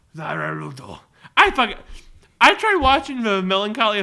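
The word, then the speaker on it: ザ・ワールド: Zarwaldo. You butchered that pronunciation. I fucking butchered. How do you say it? Well, it's technically called just the world. Oh, but they pronounce it like Zawarudo. Zawarudo.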